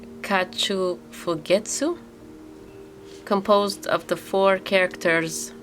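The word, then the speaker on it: 花鳥風月: Um, so this one has the pronunciation kachu fugettu composed of the four characters for flower, bird, wind, and moon.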